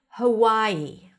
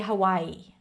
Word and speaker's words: Hawaii: Then we have Hawaii. Hawaii. Hawaii. Okay? And you can even add a glottal stop like Hawaii. Hawaii. I don't say it like that. I say Hawaii.